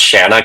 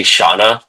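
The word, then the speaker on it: Shanna: I I was this years old um realizing it's pronounced Shana cuz I say Shaana the sheevil. No, it's Shana.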